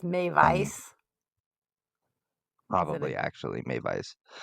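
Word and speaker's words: Meiwes: probably actually Maiwes, since they pronounce their W's As V's. V's. Yeah, Yes. Okay. knock half that W off.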